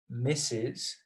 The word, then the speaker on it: Mrs: we're going to say misses that is the same as what we're pronouncing is mrs okay so if you're